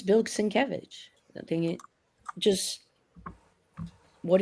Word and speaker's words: Sienkiewicz: If you go to his booth, he actually has it, the enunciation. so that you can say it properly. It's Sienkiewicz. Jack.